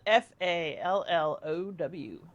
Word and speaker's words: fallow: Uh, it's spelled F A L L O W. Fallow. Just with a a. Yeah. Like tallow but with an F. Yes. You fall and then say ow.